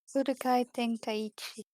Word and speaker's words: Budokai Tenkaichi: That's how it's pronounced. I don't think I believe you. You don't have to believe me. Budokai Tenkaichi.